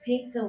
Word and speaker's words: Piso: The New Testament, the Church, and Christianity were all the creation of the Calpurnius Piso, pronounced Peso with long E, family, of who were Roman aristocrats.